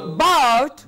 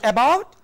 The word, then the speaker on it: about: Now, it is here the stem, the root that is to be stressed, not the weak prefix. For example, cross. Cove, go. Not ego. Go. About, but. Not about.